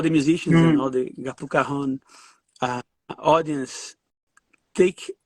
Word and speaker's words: Gappu Cajon: Yeah, It's Gappu Cajon. you correct. Your pronunciation is correct.